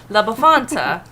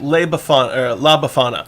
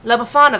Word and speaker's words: La Befana: Did I say her name right? La Befana. La Befana, that's right. She is the Italian Christmas witch. I keep wanting to put the T in there. La Befana, thank you.